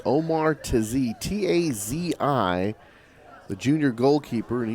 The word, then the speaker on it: Tazi: Entering the field in goal for Northgate, number 24, Omar Tazi. Actually pronounced Omar Tazi, T-A-Z-I, the junior goalkeeper, and he will come